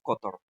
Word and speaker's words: cotorro: Entonces, la de medio, la penúltima, dice, ponemos la fuerza en la to, ¿no? Entonces, cotorro. Entonces, así podemos diferenciar, pues, cotorro. Co, la co la digo suave, y la ro la digo suave también, y la to es la que digo más fuerte.